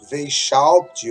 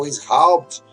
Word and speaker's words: Weishaupt: E aí a gente vai chegar a Aden Weishaupt, ou como você queira pronunciar, o Weishaupt, e assim nós chegamos à maçonaria moderna.